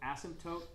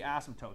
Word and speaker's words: asymptotes: we are okay vertical asymptotes you don't really pronounce the P you kind of do its kind of got